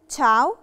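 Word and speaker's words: ciao: وراها اه اه في الحاله دي نشي ما بننطقش الحرف الاي ومثال عليها كلمه تشاو او شوكولاته تشاو طبعا معناها هاي وباي بتنفع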